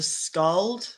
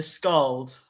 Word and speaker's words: skald: Remember the skald, which is the future? Yeah. The skald. This D is silent sometimes in language.